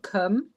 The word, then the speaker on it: Cwm: It's called Kum and it means valley in Welsh.